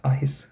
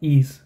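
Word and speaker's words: Eis: i in this word so it's ahis okay and not ease okay so e i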